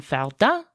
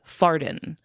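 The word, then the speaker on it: Fardin: name of Mark Antoine Falda I do have to pronounce it the French way because if I don't it would be farten and I can't do that to this person.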